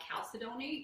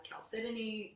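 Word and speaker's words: chalcedony: of what as geologists we call calcidone you might have also heard it pronounced as calcitini both of them are actually correct and what it is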